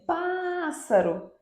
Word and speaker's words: pássaro: Então, observem, pássaro é a antepenúltima sílaba tônica.